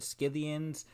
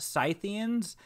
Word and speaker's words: Scythians: how you pronounce that word do you really pronounce it sciviens so i decided to look it up and it turns out it's actually pronounced scythians so yeah i don't know why i decided